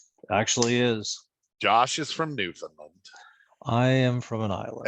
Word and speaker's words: Newfoundland: in my homeland actually is josh is from newfoundland i am from an island and i pronounced it correctly i like credit yeah yeah